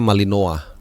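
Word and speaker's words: Malinois: clubnya sny WS bacanya Kalau bahasa Prancisnya malinoa tulisannya molinois ya Kalah 25 nih dender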